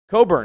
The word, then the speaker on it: Cockburn: that's a little rough please please show me anywhere in any language where a ck is silent only when that's your name only when your name is cockburn that's the only time